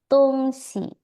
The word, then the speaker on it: 东西: Tungsi. Jadi bacanya tungsi, 东 netral 东西， ya.